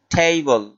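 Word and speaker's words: table: পরের শব্দটি হলো টেবিল। টেবিল শব্দের অর্থ টেবিল। টেবিলকে ইংলিশে বলা হয় টেবল। আমরা বাংলা উচ্চারণে বলে থাকি টেবল বা টেবিল।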